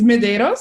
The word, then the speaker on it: Medeiros: hi thank you for having me um it's mederos MOS okay yes medos a lot of people